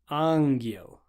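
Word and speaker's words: ангел: In Russian, G is always G. It's never J. So G will be pronounced G, as in gap. An example of this, we have the English word angel. In Russian, you'll be saying angel, angel, G. Always G, never J.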